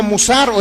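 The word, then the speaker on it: מוסר: palabra hebrea mire que se podemos pronunciar como musaró es que no se escribe como mozart significa significa advertencia significa instrucción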